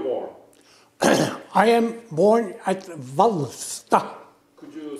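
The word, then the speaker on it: Hvalstad: I am born at Valsta. Could you spell it? H-V-A-L-S-T-A-D. Could you pronounce it again? Valsta.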